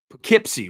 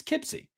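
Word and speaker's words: Poughkeepsie: What are my thoughts on the God, I'm going to butcher it again because I'm not from New York. Uh Pipsy, right? It's Pipsy Tapes, right? Who in here is from New York? I said it right. Pipsy tapes. Pipsy tapes. Pipsy tapes. It's Kipsy.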